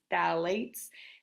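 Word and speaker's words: phthalate: I know that's a funky word but it's pronounced phalate uh pfas and pesticides all right so all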